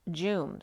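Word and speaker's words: Djoum: jamal became friendly with the directors of the illuminati headquarters at joom j-o-o-m it's spelled d-j-o-u-m but it's pronounced jooms which is very similar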